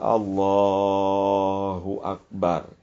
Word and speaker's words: Allahu akbar: tidak dipakai dalam pengucapannya huruf ha dalam lafaz Allah jnya dibaca dengan harakat Dom ringan jadi Allahu akbar bunyikan Hunya tapi e ringan tanpa berlebihanil mubalagah ya Eh jangan di